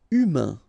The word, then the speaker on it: humain: Humain, remember, H doesn't exist, so U, then A-I-N together, un, humain, humain.